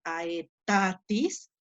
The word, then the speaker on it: aetatis: dice aetatis fíjense que en la sílaba hay una rayita dijimos que esa rayita se llamaba macrón por lo tanto eso hace que ahí vaya el acento es como si fuera una tilde es como asia y pronunciará a ésta y ahí estuviera la tilde cuando la palabra tiene